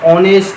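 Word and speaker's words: honest: বোঝা যেমন দেখো an hour an আওয়ার আওয়ার উচ্চারণ আই এর মত আসছে যদিও সেটা এইচ এই কনসোনেন্ট দিয়ে শুরু ঠিক সেরকম এন অনেস্ট ম্যান তাহলে এইচ দিয়ে শুরু অনেস্ট ম্যান কিন্তু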